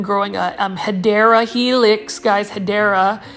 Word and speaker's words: Hedera: a Hedera helix, guys, Hedera. I'm now pronouncing it correctly. I was calling it Hedra, although I kind of want to keep calling it Hedra.